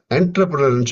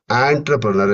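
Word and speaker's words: entrepreneur: இன்டிஆர் பிஆர் இன் யூ ஆர்னாக்க என்டர்பிரனர்ன்னு சொல்லக்கூடாது. ஆன்டர்பிரனர் என்று உச்சரிப்பாங்க. அடுத்து இ என்ற உச்சரிப்புக்கு ஆங்கிலத்தில் இ போடலாம் ஐ போடலாம் ஒய் போடலாம்.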